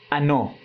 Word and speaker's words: ano: Igual ano, mas a pronúncia é ano.